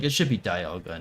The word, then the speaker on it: Dialga: Like, it should be Dialga, not Dialga, but the thing says Dialga. Is it still pronounced Palkia?